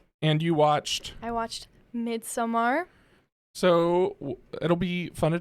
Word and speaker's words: Midsommar: It's Midsummer. Look, we live in America. We pronounce things wrong. So if it is Midsommar, Americans should pronounce it Midsummer.